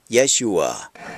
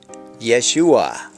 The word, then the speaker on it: Yeshua: the right side of the sheen of Yeshua the sheen makes the sh sound at the end of